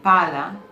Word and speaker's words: pala: Double consonants matter. In Italian, pala and palla are different.